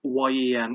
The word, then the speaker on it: Nguyen: I have to try and pronounce his surname right. It's Nguyen. It's very difficult.